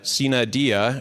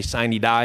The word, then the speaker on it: sine die: I had no idea how to pronounce Sina Dia, or that we all say Sine Die instead.